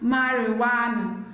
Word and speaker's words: marijuana: Letter J is silent in the word marijuana.